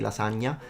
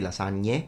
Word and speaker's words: lasagne: Like in the south of Italy, people do say lasagna. But I would say in the north of Italy, maybe it's more common to say lasagne and pluralize it. But both are fine.